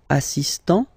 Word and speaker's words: assistant: Il est assistant. So don't pronounce the final T here.